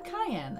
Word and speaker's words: Cayenne: name is cayenne yes it's pronounced like the pepper I'm alive that's a